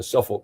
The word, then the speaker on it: Suffolk: Well, now remind me just what the Suffolk, is that how you pronounce it? Suffolk Yeah, Suffolk.